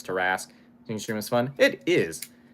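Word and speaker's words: Tarrasque: an igloo with tarasque I feel like teras is the right way to pronounce it I don't think they have any pronunciation guides in the monster manuals far as I can tell but I'm pretty sure it's teras stream is fun it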